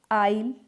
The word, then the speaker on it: isle: जब आई के बाद आई, एस और या फिर आई और एल के बीच में हो तब जो आई है वो एस है जो वो साइलेंट रहेगा। जैसे आइल, आइलैंड। आइलैंड और जो आइल है